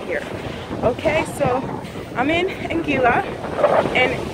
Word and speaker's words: Anguilla: Okay, so I'm in Anguilla, and it's spelled A-N-G-U-I-L-L-A. People keep thinking I'm saying Angola, like the country in Africa, but I'm not in Africa today.